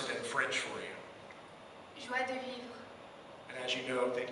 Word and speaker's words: joie de vivre: It's inspired by the Cajun culture in Louisiana, and she's going to pronounce it in French for you. Joie de vivre.